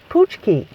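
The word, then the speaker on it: pączki: in the in the uh in the donuts poochki it's p a c z Ki and our his name is spelled p l a c z e k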